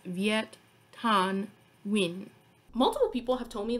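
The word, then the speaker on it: Viet Thanh Nguyen: so don't judge me but his name is pronounced viet tan win multiple people have told me that i need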